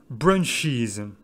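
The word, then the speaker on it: brunches: prononcé is parce que en ajoutant es on ajoute une syllabe supplémentaire et je trouve ça comme prononce brunch is lunch is alors comme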